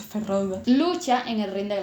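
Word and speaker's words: Feyd-Rautha: de los harcon ferroga que ya sé que se pronuncia ferroga lucha en el ring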